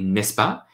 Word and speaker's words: n'est-ce pas: So, n'est-ce pas, pronounced quickly, n'est-ce pas, just is like saying, is that not so?